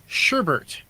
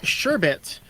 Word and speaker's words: sherbet: was an incident where he pronounced the desert item sherbert instead of sherbet and he was not